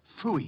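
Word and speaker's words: Pfui: Phooey. It can be spelled in several ways. I spell it P-F-U-I. Phooey.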